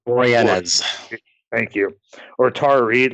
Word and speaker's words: Boreanaz: Furlong and I can never pronounce David's last name right. Boreanaz.